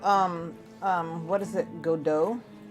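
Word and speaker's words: Godot: um what is it godo prior to me actually hearing people pronounce that I was like go Dot but I'm very curious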